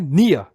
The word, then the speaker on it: Near: missa amani amani missa near que no caso se pronuncia Nia Melo que se pronuncia